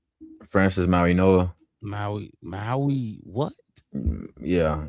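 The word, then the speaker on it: Mauigoa: Francis Maui-Noa. Maui what? Yeah, it's a weird pronunciation. You wouldn't think the G is pronounced as an N, huh? It's something like that. I got you. Maui-Noa, Makai Lemon, first or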